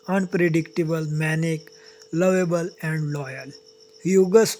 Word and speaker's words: Hugues: Hugus Oyarzabal, roughly pronounced Oge Oyarzabal, was born on March 7, 1985 in Saint-Jean-de-Luz, a fishing port in the Basque region of the southwestern France.